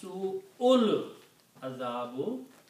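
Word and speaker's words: سوء العذاب: So when you combine, then you don't pronounce alif here and combine hamza with the lam, so it becomes Su'ul Azabu, because this alif, you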